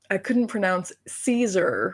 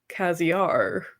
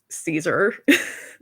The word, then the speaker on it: Caesar: If you haven't noticed, when I was a kid, I couldn't pronounce Caesar for the life of me, and naturally, it always ended up being Caziar, and no one corrected me until I was 12.